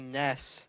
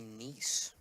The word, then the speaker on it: Neese: And now number 7, Kenzie Ness, stepping up to the plate. I am sorry, that is Kenzie Neese.